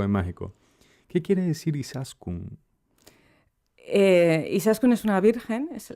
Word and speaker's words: Izaskun: Y se pronuncia Izasko. Izaskun. Izaskun.